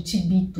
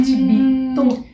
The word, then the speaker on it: chivito: E lá eles têm um tal de tibito. Gente, o que é aquele tibito? Se escreve chivito com CH.